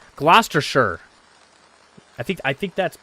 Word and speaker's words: Gloucestershire: Sheer not shire. Sheer. Okay. All right. I'm going to try this one more time. Gloucestershire. Gloucestershire.